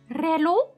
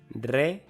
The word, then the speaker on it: reloj: Reloj. Reloj. Reloj. Reloj. Reloj. Reloj. Reloj. Reloj. Reloj. No, I don't need to roll my L there. Reloj.